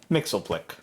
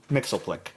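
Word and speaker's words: Mxyzptlk: Mixelplick. Mrs. Pitlick. Don't try to pronounce every fucking consonant. It's all consonants.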